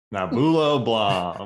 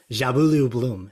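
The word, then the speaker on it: Njabulo Blom: um I saw someone tweet out how to pronounce this and I've forgotten nabula blah it's not even close Justin you want to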